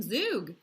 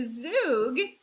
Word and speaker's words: zhoug: so let's make some zug so zug it's spelled z h o u g and it is a